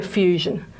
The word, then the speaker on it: fusion: So fusion, and there's our unstressed syllable. Maybe I'll put the stress mark there. Fusion, to remind us that the schwa is in the unstressed syllable. Okay, so it's the je sound.